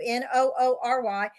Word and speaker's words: Noory: He's been a featured guest on the radio programs like Coast to Coast AM with George Noory. I'd say his name last name, too. N O O R Y.